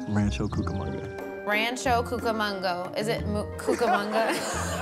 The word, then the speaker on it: Rancho Cucamonga: Do you know how to pronounce the name of my hometown? Ranchero Mukakanga. That is what I think. That is too cute. And it's not how you pronounce it. Rancho Cucamonga. Rancho Cucamonga.